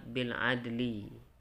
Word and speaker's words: بالعدل: Namun ada satu yang perlu kita hati-hati yaitu kalimat bil adli. Kalau kita berhenti jangan sampai tidak terbaca lam sukunnya. Jadi bacanya bil adl. Berbunyi lamnya sedikit.